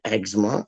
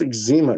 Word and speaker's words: eczema: Like, they in the States they say eczema. It's not eczema, it's eczema, dog. Eczema. Like watch how it's spelled.